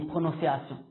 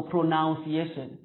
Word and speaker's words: pronunciation: Hanyuma tuje kuri akajambo nako pronunciation ni pronunciation. Abantu benshi kosa bakora ngaha bashyiramo urudome o bakavuga ngo pronunciation, aho rero ntikiba kikibaye cyo kuko nta rudome o rurimo, ni u gusa.